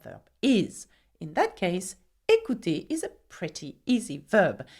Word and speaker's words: écouté: And so there you have the past participle of écouter, okay, which by the way is the same sound, écouter.